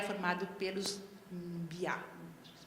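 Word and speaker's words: Mbyá: O terceiro subgrupo vive no Brasil e no Paraguai, é formado pelos Biá, se pronuncia assim, não é?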